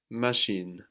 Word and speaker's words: machine: actually on the end machine and like in shores the word for thing we have ch giving us ship and it's a